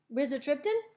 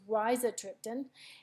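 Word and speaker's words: rizatriptan: Max Holt it's with Riza triptan so as you can see it gives you a pronunciation and I've been pronouncing it wrong it's Raisa triptan and then it gives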